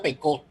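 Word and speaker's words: Pécaut: Hay un autor importante, un autor francés, un sociólogo francés, que es Daniel Pecot, no como Teodoro, no sé, se pronuncia Pecot, pero se escribe Pecaut.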